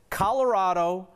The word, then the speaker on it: Colorado: Kelly says Colorado, like avocado, a 4th generation CO native has spoken.